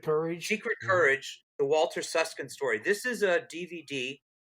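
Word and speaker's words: Süskind: And then I got the impression that a man by the name of Walter Susskind, if I'm pronouncing it correctly, it is, Susskind, was responsible for saving a lot of Jewish lives, including to some degree Salomon.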